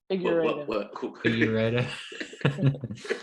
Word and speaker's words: Figueiredo: Figueiredo.